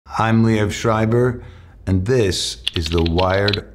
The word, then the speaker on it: Liev Schreiber: That's how you pronounce it, Liev Schreiber.